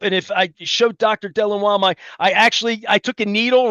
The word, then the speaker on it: Delanois: The French pronunciation is Delanois, which is very Delanois.